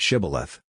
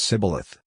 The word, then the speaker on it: Shibboleth: themselves beyond the Jordan, by asking them to pronounce the word Shibboleth, which the Ephraimites pronounce Sibboleth.